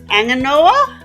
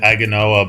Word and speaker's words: Aganoa: the black sand beach anganoa I think so I I'd say aganoa but you don't pronounce the G it's an um so